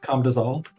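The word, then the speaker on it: Camdozaal: What is cam do? Correct. Cam dozal. Weird pronunciation. How would you What's What's the How do the natives say it? Camdazole.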